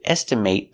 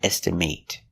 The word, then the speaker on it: estimate: next example is estimate estimate is the pronunciation when it's a verb example I need to estimate the cost of the job with the long a estimate but if it's not